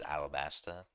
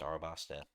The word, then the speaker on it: Arabasta: This I I don't know why I pronounce her so many times as alabaster. Um it's Arabasta.